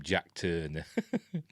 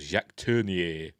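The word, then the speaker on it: Jacques Tourneur: apparently it turned it how they pronounce It in America they just called him jack turned but he's a Frenchman called Jack turnier um he didn't want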